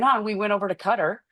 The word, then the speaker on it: Qatar: But one of the first trips we went on, we went over to Qatar. I hope Alan, did I say that right? It's Qatar. You're absolutely right.